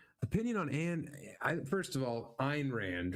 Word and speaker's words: Ayn Rand: Opinion on first of all, Ayn Rand, right?